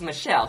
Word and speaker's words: Michelle: we first have Alexis Michelle whose last name rhymes with hell and she is serving